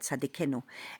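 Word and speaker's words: צדיקנו: Tzaddik, it's like tzaddikenu. That's how you say it, tzadikenu.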